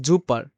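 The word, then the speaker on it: super: যখন আপনি দেখবেন যে জার্মান শব্দের শুরুতে এস থাকলে তা অনেকটা জ এর মত উচ্চারণ করে যেমন এখানে দেওয়া আছে জুপার জুপার আমরা বলি সুপার বলি না এটা দেখেন তো ইংলিশে কি সুপার বলি না কিন্তু ডয়েসে বলা হবে জুপা জুপা ভাইয়া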